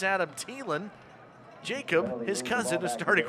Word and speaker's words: Thielen: I find out almost everybody in the country has been saying his last name wrong everybody calls him Adam thielen the wide receiver for the Minnesota Vikings turns out it's Adam thielen Jacob his cousin is